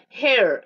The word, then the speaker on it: her: Fácil, pero hemos tenido problemas con pronunciación. ¿A dónde está? Dice, ahí está. Her, no es here, here salary.